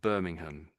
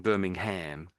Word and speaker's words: Birmingham: I'm saying Birmingham, but that's more the American way. If you say the ham on the end, it's a bit like the American way, but the Brit the Brits don't really say that. We say Birmingham. Birmingham.